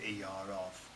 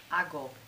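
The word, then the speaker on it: hago: do or I do a go a so it isn't AO it's ago so the C becomes a g now you'll find that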